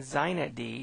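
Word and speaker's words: xinetd: these things first off there's inetd inetd and zinedi is how this is pronounced are super servers these applications on a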